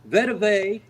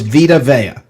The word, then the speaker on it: Vita Vea: Is it Vitavea, Vetavea, Vevita, or It's Vita. The correct pronunciation is Vita Vea.